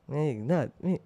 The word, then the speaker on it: Meghnath: मेघनाथ, मेघनाथ, यस, 2 syllables. Meghnath, ooh, I like it.